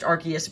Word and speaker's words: Arceus: But yes, this is pronounced Arceus, but a lot of people pronounce it Arceus. But I think I've always thought Arceus sounded better, so I've always pronounced it Arceus.